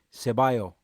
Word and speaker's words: Ceballos: been talking about for a while it's Danny Cevallos and he's done a little interview as well which you can find on arson common he said that it that it's pronounced sir by oh is that right close enough but Danny so